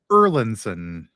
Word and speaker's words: Erlendson: name again my name my last name is pronounced erinson eron linon yeah I know the JM I don't know the erinson it looks a little different than it's it's pronounced but thank you for